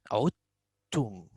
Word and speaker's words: عدتم: Here, this word, we pronounce عدتم. عدتم. I go from the ain to the ta. I will not say this dal.